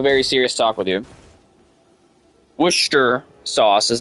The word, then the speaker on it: Worcestershire: Worcestershire sauce is not correct.